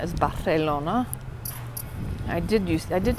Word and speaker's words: Barcelona: Celia Soso okay so the C is pronounced like a th so Barcelona is Barcelona I did use I